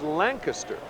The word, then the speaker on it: Lancaster: You know, he pronounces his name Lancaster. And in Pennsylvania, the proper pronunciation of the town is Lancaster.